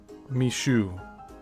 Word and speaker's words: Micheaux: The most significant and durable filmmaker to emerge from the race film boom was Chicago based Oscar Mishu and that's spelled m i h e aux.